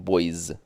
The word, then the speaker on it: boys: змінюємо просто добавляємо Boys і вимовляємо це слово більш дзвінку тобто що я маю на увазі літеру с в кінці вимовляйте більш дзвінку ближче до ЗИМ бойз тої з ось такому руслі останнє